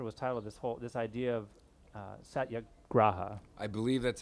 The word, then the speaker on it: satyagraha: then the chapter was titled this idea of satyagraha. I believe that's how it's pronounced, but Satyagraha.